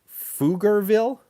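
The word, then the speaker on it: Pflugerville: this was a city foogerville and it's spelled with a ph i've been to texas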